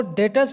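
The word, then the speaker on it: debtors: देखो डेटर्स में B silent होता है, डेटर्स, बी साइलेंट है।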